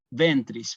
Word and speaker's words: ventris: pero no siempre están ventris ven también otra palabra bisílaba yo le he puesto el acento en la penúltima Sí tú y Jesús